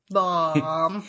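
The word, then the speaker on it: Baum: so b a m why else would you pronounce it bomb bomb bomb I think I think we're oh yeah we right bomb bomb Okay so we've also realized that we need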